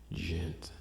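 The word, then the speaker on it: djent: gent metal band and gent is spelled d j e n t gent um it's kind of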